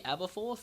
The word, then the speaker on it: Aberforth: Anyway, so guys, I am obviously joined by do I call you Aberforth? Is that? That is how you pronounce it.